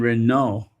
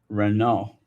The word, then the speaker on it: Renault: And Renault, Renault. The T is silent. Renault.